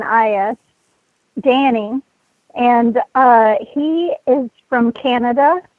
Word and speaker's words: Danis: damn yeah to ask Danny the the S is silent it's spelled EI n is Danny and he is from